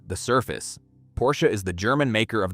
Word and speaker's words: Porsche: The pronunciation, because the name is 2 syllables, Porsche, not one, and almost nobody outside the faithful says it correctly on the first try.